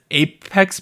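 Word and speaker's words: EPEX: debut name of okay i think it's epics e-p-e-x epics or you might be pronouncing the e as apex because the epics thing um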